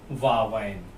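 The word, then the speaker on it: واوین: और इसे प्रोनाउंस करने के लिए हिंदी में लिखिए वावैन।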